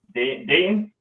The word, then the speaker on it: Dayton: Dayton Raiola. Yep. Dayton.